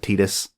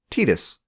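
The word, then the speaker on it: Tidus: lot more fun online Titus or Titus whichever way you say it I personally pronounce it Titus they never say it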